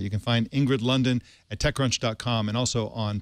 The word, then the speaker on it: Lunden: Well, Ingrid London, I want to thank you for skipping lunch to join us here.